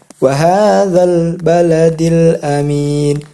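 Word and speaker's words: وَهَٰذَا ٱلْبَلَدِ ٱلْأَمِينِ: Ketika kita ada huruf lam yang bersukun, ini huruf lam bersukun. Nah, itu kita membacanya tidak boleh memantul. Tidak boleh seperti ini. Wahadzal bala, hadzal. Nah, itu tidak boleh. Jadi harus jelas. Wahadzal baladil amin.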